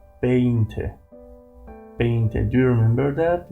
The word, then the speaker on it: veinte: 20 in Spanish we say veinte. Veinte. Do you remember that? We normally pronounce the word V in English as a B.